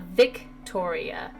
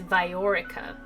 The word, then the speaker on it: Viorica: Her name's not Victoria, it's Viorica, which I don't know